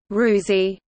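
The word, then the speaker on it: ฤๅษี: the current Hindu society the name rishi pronounced rewsey is also the basis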